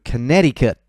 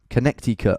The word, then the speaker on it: Connecticut: Okay, on to Connecticut. Connecticut, I've always called it, but when I hear actual Americans say it, it's Connecticut.